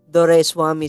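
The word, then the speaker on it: Doraiswamy: very hard to pronounce dor Swami so I just simplify in three syllables door rice and whammy so if you just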